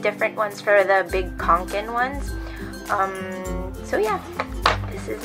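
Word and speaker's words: Kånken: But like I said, the pronunciation is Fjallraven Kanken. Because they said that this A with the circle on top of it is pronounced as an O. So Kanken. And the A that has two dots on the top is like Fjall.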